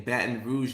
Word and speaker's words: Baton Rouge: Next week, we're going to be in Baton Rouge, Louisiana, baby.